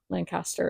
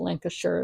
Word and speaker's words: Lancaster: thinking like Lancaster County Lancaster is how I say it but Lancaster is the local pronunciation and I never I